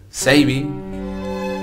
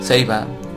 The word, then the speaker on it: Saber: En sí el nombre, pero pues, la pronunciación es Seibi. Seiba. Bueno, según como ustedes quieran ver.